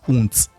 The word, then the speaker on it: und: Vous allez voir que souvent dans euh à la fin des mots en allemand, lorsqu'il y a D, ça se prononce T.